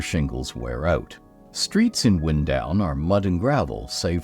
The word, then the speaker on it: Windown: with wind pronounced like the moving air and not like the action of winding string or thread around something is primarily brick ground